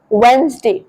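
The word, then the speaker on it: Wednesday: जेड का sound आएगा वनसडे वैसे डी के बाद एन आता बट आपको एन का साउंड पहले लाना है और डी की जगह पे आपको जेड का यूज़ करना है। सो you will pronounce it एज वेडनेसडे।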